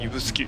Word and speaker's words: 指宿: 的ですよね指宿これでね指の宿と書いてね指宿と呼ぶんですよねなかなかね珍しい読み方かなと思い